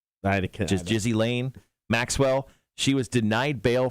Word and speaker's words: Ghislaine: Ghislaine? Jizzy Lane Maxwell.